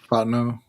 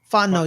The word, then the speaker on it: Fontenot: Fontenot. Fontenot.